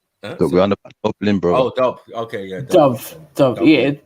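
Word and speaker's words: Dubh: pool um it's pronounced Dove brother oh do okay yeah Dove yeah pronounced the BH as a v just like with shobon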